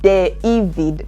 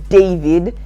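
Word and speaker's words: Deivid: I'm saying it correctly de evid because it's not David it's de evid so Washington when Washington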